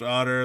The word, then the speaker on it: Otter: And I am your host, Otter. The T is silent.